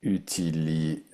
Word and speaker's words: utilisé: un accent, tu prononces et. Si c'est j'utilise, il n'y a pas d'accent. J'utilise, c'est le présent, pas d'accent. Ici, j'ai utilisé.